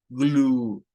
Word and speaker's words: glue: Esto solo suena a esta parte y la U, pues aquí va con el sonido largo. O sea, cuando la vemos así como una U del español, el sonido es U. Glue, glue.